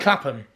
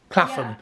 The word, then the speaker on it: Clapham: Well, but like Clapham. Clapham.